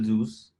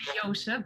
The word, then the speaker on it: Joosse: Joosse. Am I pronouncing the name correctly? Yes, perfect. Thank you very much. In the Netherlands, you would say Joosse, but it's very fine.